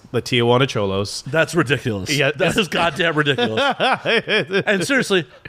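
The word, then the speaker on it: Xolos: the was it the the cholos actually have done it the last way they have a team called the cholos really they have a team show us yes it's spelled x0l oh s the Tijuana cholos that's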